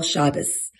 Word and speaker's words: Shabbos: And probably the most decisive factor in my becoming religious was what you might call the Sabbath and what I call Shabbos. That's the Ashkenazi pronunciation, by the way, and I like using